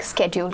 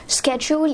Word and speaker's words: schedule: हम लोग अपनी वर्क स्केड्यूल को बता सकते हैं. स्केड्यूल या स्केड्यूल दोनों ही सही प्रोनाउंसिएशंस हो जाती हैं.